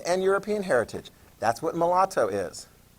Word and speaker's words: mulatto: be a you know pronounce that mulatto is how that's pronounced mulatto sounds like something you'd order at starbucks it's not okay mulatto